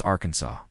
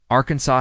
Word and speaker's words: Arkansas: It's illegal to mispronounce Arkansas. Arkansas has officially declared how to pronounce its name. According to the Arkansas Code, it's Ransaw with a silent s at the end.